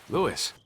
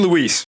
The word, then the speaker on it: Luis: fairly common name but Leon just can't be bothered to say it correctly and who might you be Lewis Lewis you have to get it back Justice for Lewis I mean Luis in closing I believe